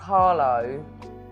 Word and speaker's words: Harlow: So there's a place called Arlo near us. In Essex, you don't really pronounce H's.